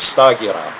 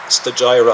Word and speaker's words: Stagira: You would pronounce it Stagira. Stagira, I guess, in English.